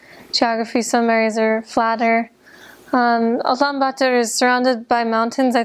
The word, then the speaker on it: Ulaanbaatar: I was only in the capital city, which is in Mongolian pronounced Ulaanbaatar.